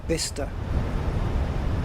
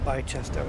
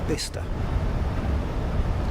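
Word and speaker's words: Bicester: So yeah, this is pronounced uh bister, not bice or bchester, it's bister.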